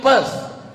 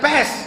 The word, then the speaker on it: Perth: I am going to Perth. Bukan pest, kalau pest penyakit.